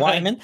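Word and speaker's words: Wehman: my name is mr wyman we've enjoyed you literally everybody else i get it is someone with w-e-h-m-a-n uh my name uh weeman is the most common mispronunciation of my last name dustin ever cava does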